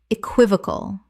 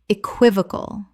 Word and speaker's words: equivocal: Equivocal. Correct pronunciation. Equivocal. 4 syllables with the stress on the second, meaning open to 2 interpretations.